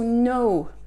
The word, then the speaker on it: know: To know. To know. Ne prononcez pas le K. S'il vous plaît, ne prononcez pas le K. Le K, K devant un N, to know, new, known, to knock. Ok, ces mots-là, pour ces mots-là, le K est silencieux.